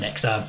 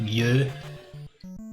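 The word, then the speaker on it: Myu: No, not Nyx, Mew. Not like the Pokemon, M-Y-U is pronounced.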